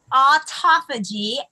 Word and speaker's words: autophagy: So autophagy, let me see if I can spell it.